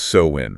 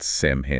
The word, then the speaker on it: Samhain: That's pronounced Samhain, right? Not Samhain. Exactly, Samhain.